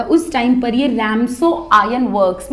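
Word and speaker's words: Ramsjö: नाम है ठीक है इसमें हालांकि देखो स्पेलिंग है आर ए एम के एस ओ बट IT should be pronounced स राम सो के वुड बी साइलेंट हर अब ये जो ओल्ड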